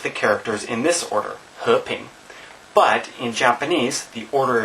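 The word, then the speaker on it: 和平: So in Chinese, we have these two characters here, and they're pronounced he, ping, so it's 2 second tones.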